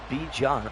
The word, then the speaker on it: Bijan: Bijan stated that his name is pronounced Bijan.